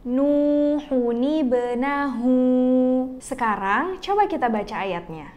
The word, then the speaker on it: نوح ابنه: Nah, rumusnya, kalau ada dua sukun yang ketemu kayak gini, sukun yang pertama kita ubah jadi baris bawah. Jadi, kalau disambung kata Nuhun dan Ebenahu, cara bacanya bukan Nuhu Benahu, tapi Nuhuni Benahu.